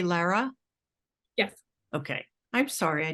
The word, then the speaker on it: Lara: pronounce your name differently than I realized I pronounced it so do you say Lara yes okay I'm sorry I didn't I don't think I ever realized that so Lara thank you so much for being here with